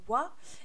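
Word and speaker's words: は: Et la même explication, le ha va se prononcer wa.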